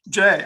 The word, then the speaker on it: Jai: And the first we're going to be talking to is Jai. Jai, are you here? Yeah, and I usually pronounce it J. Jay, okay, I'm Yeah.